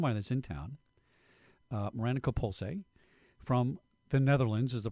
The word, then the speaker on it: Coppoolse: a friend of mine that's in town, Miranda Coppoolse, from the Netherlands is the proper way to say it, correct?